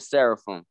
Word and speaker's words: seraphim: angel kind of angelic it's you got it's pronounced cherubim and seraphim bro yup yup yup just to help you